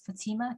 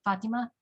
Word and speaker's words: Fatima: hear me hi uh my name is fatima you can also pronounce it fatima that's also correct um my pronouns are